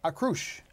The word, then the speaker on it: Akroush: So we have with us the Artistic and Executive Director, Daniel DeWalt, and the Associate Director, Akroush.